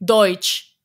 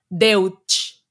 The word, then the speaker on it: Deutsch: German language for example when you write something with E and U then it doesn't sounds like EU like for us it sounds like oi for example they say Deutsche d-u-d-e-u-t-s-c-h Deutsch it's not Deutsche right you know yeah